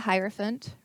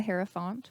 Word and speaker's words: Hierophant: all right we have the Hierophant or the hero font whichever way you want to pronounce it in Reverse though